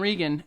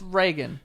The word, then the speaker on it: Reagan: We are not confined by the way words are pronounced in order to rhyme them. So Tegan and Regan absolutely work. Well, it's Reagan.